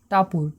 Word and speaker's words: Tapur: এখানে দেখতে পাচ্ছ যে টি কিন্তু ট উচ্চারণ করছে, একে আমরা বলবো আ, অর্থাৎ এখানে কিন্তু এর উচ্চারণ হচ্ছে আর মতো, আর পির উচ্চারণ পর মতো, ইউর উচ্চারণ হস্য উকারের মতো।